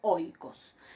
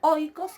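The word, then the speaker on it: οἶκος: Por ejemplo, ahí tienen la primera palabra, es oikos. Esta palabra oikos quiere decir casa. ¿Ven cómo yo pronuncio? Oikos. Espíritu y acento están en el segundo elemento del diptongo, oikos, pero yo pronuncio esto todo junto, oikos, ¿sí?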